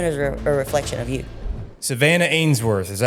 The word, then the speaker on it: Savanna Ainsworth: Savanna Ainsworth, is that how you pronounce it?